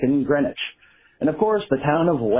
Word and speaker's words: Greenwich: Same with the London neighborhoods that look like Southwark and Greenwich, which are pronounced Southwark and Greenwich.